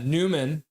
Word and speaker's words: Nyman: And then Newman, even though it's spelled Nyman, ends up getting the 1 star from the Seattle Kraken.